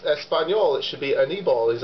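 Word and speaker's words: Aníbal: And everyone called him Anibal, like animal, but with a B. And I was like, but it's Espanol, it should be Anibal.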